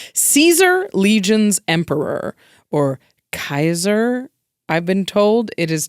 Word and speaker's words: Caesar: I think that the lore is that in this world, post-apocalyptic, nobody knew how Caesar was pronounced anymore. So they said Kaiser because that's how it looked. Hilarious.